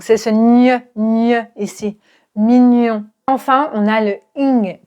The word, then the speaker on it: mignon: Ce son se prononce gne gne donc c'est toujours nasal. Et tu vas prendre ta langue et tu vas la coller à ton palais. G. Tu connais certainement le mot mignon.